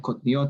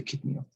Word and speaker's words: kitniot: Right, kotniot, that's how we pronounce it, as opposed to kitniot.